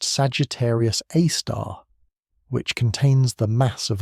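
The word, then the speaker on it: Sagittarius A*: The galactic center, while spectacular, is a violent place dominated by a super massive black hole called Sagittarius A, pronounced Sagittarius Aar, which contains the mass of about 415 million suns compressed into a region smaller than Mercury's orbit.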